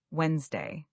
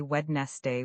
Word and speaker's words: Wednesday: Let's continue with another challenging word, Wednesday. This one is tricky because there's a D in the spelling that we don't really pronounce. Many learners say wedest day with three syllables, but